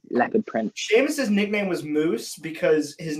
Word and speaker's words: mus: But anyway, so basically, the choir sung in Latin, and in Latin, MUS is pronounced moose.